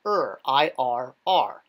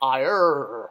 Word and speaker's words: ir: So this means to make, and obviously you wouldn't pronounce that second R. It's not IRR, like a pirate, IRR. It's just IR.